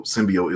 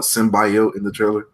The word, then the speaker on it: symbiote: how to say it even though symbiote is the right way they call it symbiotic I'm trying to correct